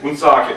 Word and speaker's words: Woonsocket: Woonsocket.